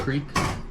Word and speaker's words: creek: Well, they're like a secluded area that, Crick instead of creek? Yeah. Crick. I don't know of anybody that would say You that don't hear it now.